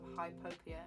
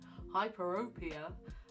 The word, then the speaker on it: hyperopia: The other cause of hypopia, oh god, I've said it wrong again, hyperopia, is another one to do with the shape of your eyeball.